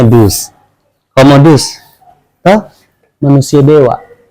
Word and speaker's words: Deus: Tulisannya Deus, bacanya Dus.